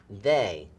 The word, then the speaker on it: they: Well, again, I hear the sound at the beginning, but it's this double letter combination here, this EY, that's making an A sound instead of a eh and y, okay?